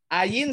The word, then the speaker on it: ayin: Ayin silent. Tidak diucapkan ya. P ini P.